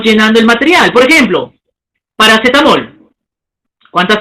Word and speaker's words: paracetamol: Por ejemplo, paracetamol. ¿Cuántas sílabas? 5 sílabas, ¿no es cierto? Paracetamol. Bueno, ahí hay que corregir, no es aguda, es grave, ¿no? Es aguda, hay que resaltar en la mol, paracetamol, aguda.